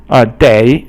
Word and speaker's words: 得: Day is third tone, and it means must.